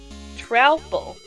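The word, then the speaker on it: Troupple: Half trout and half apple, pronounced like mouthful. Trouble.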